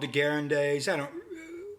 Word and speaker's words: Degas: Yeah, it's called Degas.